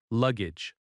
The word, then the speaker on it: luggage: Luggage. The stress is on the first syllable.